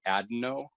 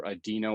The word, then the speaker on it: adeno: would be adeno or adeno you will hear it pronounced both ways either adino or adeno site o and then